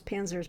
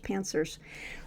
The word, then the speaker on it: Panzer: you as jokes pancers I actually pronounce panzers pancers um the panzers came